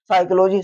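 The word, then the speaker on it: psychology: इसी प्रकार देखो साइकोलॉजी साइकोलॉजी के बाद पी के बाद एस आता है और पी के बाद में अगर एस आता है तो क्या होता है वो साइलेंट हो जाता है तो क्या हो जाएगा साइकोलॉजी हो जाएगा इसी में देखो पी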